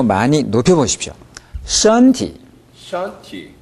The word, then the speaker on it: 身体: 身体怎么样? 身体怎么样? 네, 이 발음을 해봅시다. 身体. 身体. 身体. 身体. 일성을 아주 높게 잡아보십시오.